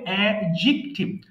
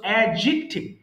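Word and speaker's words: adjective: আমি হ্যাঁ এটা হবে এডজেক্টিভ অর্থাৎ এখানে এই এই ডি আর জে মিলে একটা সাউন্ড হবে জ শক্ত বরিগর জ সো এডজেক্টিভ এডজেক্টিভ তার মানে ডি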